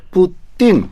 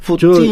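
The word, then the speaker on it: Путин: 예. 뜨. 그러니까 우리 러시아에는 한국어와 마찬가지로 된 소리가 많습니다. 뜨 끄 끄 이런 소리. 그래서 한국 사람들이 러시아 바라 정확합니다. 음. 뿌띵. 네. 어. 뿌띵. 저 서유럽 사람들은 자기들 말에 된 소리가 없어요. 음. 그래서 발음이 우리가 더 정확합니다.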